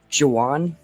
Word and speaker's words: Jowan: I think you wanted to go first for how do you pronounce it? Is it Jowan or Joan? Jawan.